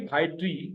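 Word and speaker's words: ڀائٽي: भे और अलिफ उसी तरह से जबर के सुर के साथ मिले हुए, हमजा और ये जबर के सुर के साथ मिले हुए, टे और ये जेर के सुर के साथ मिले हुए। भा एक हिस्सा, ए दूसरा हिस्सा, टी तीसरा हिस्सा, BHAA भा, एपोस्ट्रॉफी यानी पॉज आया, AEY दूसरा हिस्सा, TI तीसरा हिस्सा, भाई टी यानी भतीजी यानी नीस।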